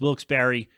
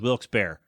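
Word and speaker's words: Wilkes-Barre: it really bothers me also he pronounces Wilkes Barry PA as Wilkes bear so that's bad too all right there are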